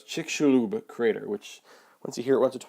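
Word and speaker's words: Chicxulub: the mirror once twice that X it looks like CH slob or something that X is kind of like an sh sound all right so it's chick shulu crater which once you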